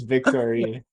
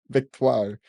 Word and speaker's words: Victoire: I read her name as Victoria. That's how I read it too. That's how I did too originally. And I felt like an idiot. Like, who the fuck names their kid Victory? Victoire.